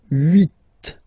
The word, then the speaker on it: huit: Then here, final T is pronounced, so huit, huit.